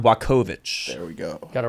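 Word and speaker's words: Jan Błachowicz: next one's the fatty john blockowicz or say his name right mr news john blakovich there we go got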